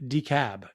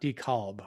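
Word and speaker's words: DeKalb: two things milton apathy decab not decalb all right fair enough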